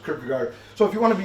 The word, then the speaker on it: Kierkegaard: you know uh it's Kar the D is silent and the double A